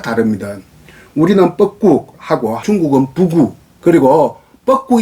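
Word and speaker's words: 布谷: 지금 현재 중국 발음으로는 포곡을 부구라고 해요. 비유지유 부구라고 하고 포곡을 부구 하는데, 그러니까 우리는 뻐꾹 뻐꾸기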